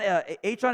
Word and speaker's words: Achane: He's changed pronunciation. I think it's Achane now, not A-Chain. He changed it, or at least asked to go by the proper one.